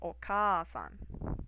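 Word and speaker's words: おかあさん: So this is the long vowel, the long A, but it is elongated by adding this a here. So it's oka-san, and that means mother.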